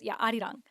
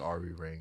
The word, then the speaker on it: 아리랑: song in Korean and full Korean, but it's Arirang. But it's a Arirang. Korean folk song. It's like an I old cannot school. be walking around here saying Ari Rain.